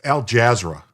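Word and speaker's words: Al Jazeera: According to Al Jazer, it's Al Jazzra. It's one way of pronouncing it.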